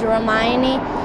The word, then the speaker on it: Ramayani: so you know how to pronounce it and spell it? is my first name and my last name is Ramani.